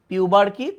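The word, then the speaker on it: pubarche: ম্যানার্কি, এটাকে আবার আগের বইয়ে ম্যানার্চি বলতো, বাট উচ্চারণ ম্যানার্কি, পিউবার্কি, থ্যালার্কি।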